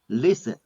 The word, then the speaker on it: listen: Next one, listen. The letter T is silent. T. Listen.